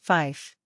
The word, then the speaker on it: five: Cessna 8509-0 the number three is pronounced tree and the number five is pronounced Fife the number nine is